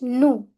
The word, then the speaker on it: nous: Nous. Nous. It's never nous. Last s always remain silent.